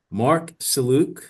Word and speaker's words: Marc Sellouk: So, first let's start with say your full name and the name of your company just in case I mispronounce any words. Mark Saluc Company is Flight.